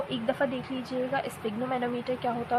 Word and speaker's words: sphygmomanometer: इसकी प्रोनाउंसिएशन देख लीजिएगा, स्फिग्मोमैनोमीटर एंड स्टेथोस्कोप।